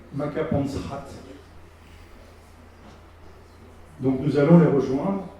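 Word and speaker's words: Makapansgat: on est dans la vallée de maapansgat par qu'on prononce makapansrat donc nous allons les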